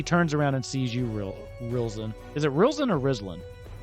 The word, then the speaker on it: Rilzin: It's spelled Rilzin. R-I-L. Rilzin. R-I-L. Rilzin.